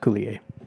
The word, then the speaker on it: Coulier: his name is actually pronounced Coulier.